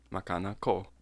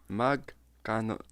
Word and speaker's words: magkano: of something, just ask, Makana ko. Makana ko. Makana ko. I'm not saying it right. No, you're not. Makana ko? Whatever, dude. I'll just put it up on the screen here. It's magkano.